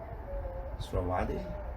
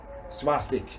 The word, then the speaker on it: swastika: Sravadi? No. Like this. Oh, Swastika. Oh yes, swastika. Swastika. Yeah, swastika.